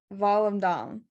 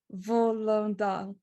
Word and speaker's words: Volendam: So it's Volendam. And I listened to the Dutch pronunciation a few times. So it's like Volendam.